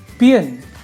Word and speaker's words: paean: एनकोमियम, vagrant, satiated, it's not satiated, it's satiated, slake, relinquish, missive, itinerant, inebriated, panegyric, assuage, seed, vagabond, paean, it's not P-A-E, something else, it's paean, the pronunciation is paean, epistle, bibulous, fidgety, sine